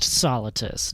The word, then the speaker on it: Solitus: Solitus. That's how you say it. Just Solitus, not Darth Solitus.